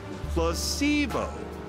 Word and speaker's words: placebo: today repeat after me Placebo H the stress is on the middle syllable very good